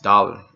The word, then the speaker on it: thaler: The world dollar is derived from taler or thaler, pronounced dollar.